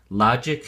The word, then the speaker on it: logic: at the flash card logic has two syllables and the emphasis or stress is on the first syllable LOD so we say logic logic it is used